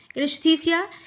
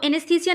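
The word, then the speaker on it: anaesthesia: अब देखिए कि एननेस्थसिया एनस्थसिया वो एनस्थीसिया नहीं है। एनस्थसिया है गति संबंधी अनुभूति यानी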